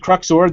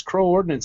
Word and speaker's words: Crux Ord: I said Crux Ord, that's the correct way to say it, and then Joe was saying, no, it's Crow Ordnance. I go, no, I don't know. So I found out tonight I was saying it right the first time. It is Crux Ord.